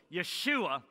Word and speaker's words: Yeshua: So Yeshua would be how we'd say that. Or how they would spell it would be Y apostrophe Shua, and the